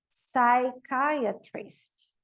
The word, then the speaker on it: psychiatrist: Então, PS, o P não pronuncia. Então, aqui é psychology, psychiatrist.